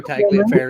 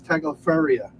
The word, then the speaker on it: Tagliaferri: Because it's pronounced Tagliaferri. Yeah. She says Tagliaferria.